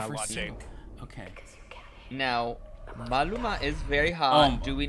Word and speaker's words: Maluma: Now, Maluma is very hot.